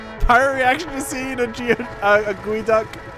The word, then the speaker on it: geoduck: reaction to seeing a gooey duck. You spelled it how it sounds, so I read it how it's spelled. That's a weird way to think about it. I almost said a geoduck.